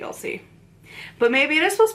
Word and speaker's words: Elsie: butchered your first name cuz I'm pretty sure it's supposed to be LC but maybe it is